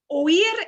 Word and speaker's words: oí: Oí el ruido en la calle.